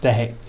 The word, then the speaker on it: deque: So we can use the double-ended queue, pronounced deque, taking elements off the front, which is the crucial point, so we can implement the queue in Python.